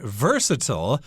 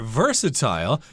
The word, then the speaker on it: versatile: this snack as being versatile or versatile you can pronounce it both ways versatile just means it